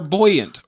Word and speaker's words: buoyant: They're buoyant. Buoyant? You said it right the first time.